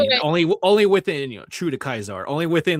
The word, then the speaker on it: Caesar: She's like, wait, it's Caesar. Because the whole Latin thing. Yeah, I actually looked it up. Apparently, the Romans would have pronounced it Kaiser.